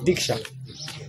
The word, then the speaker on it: Diksha: Diksha means, initiation is called in Sanskrit Diksha. So Diksha has two syllables. Diksha.